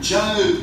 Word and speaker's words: Job: Except, he pronounced it John Joe Crew.